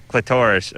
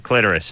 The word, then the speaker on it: clitoris: she worked the uh clitorus or the clitoris in so I said you know what we looked it up Drew looked it up in the dictionary and it said you can pronounce it either way and she said well